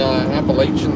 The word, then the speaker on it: Appalachian: They're playing the Appalachian State folks today.